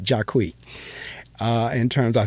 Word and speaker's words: Jacqui: a matter of fact she pronounced it jaquie uh in terms of